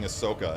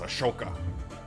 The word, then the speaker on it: Ahsoka: um with Sean Connery James Bond mispronouncing Ahsoka as Ashoka do that I should